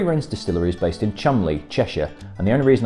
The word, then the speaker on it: Cholmondeley: The Three Wrens distillery is based in Cholmondeley, Cheshire, and the only reason I know how to pronounce that word properly is thanks to the character created by Harry Enfield.